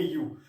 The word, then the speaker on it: eu: पहले यू लग जाए, EU स्पेलिंग होगी EU, बोलेंगे यू, तो उसका मतलब होता है ट्रू।